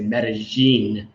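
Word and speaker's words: Medellín: colombian you would say medellin medicine two l's or a y would be like a j g okay colombia which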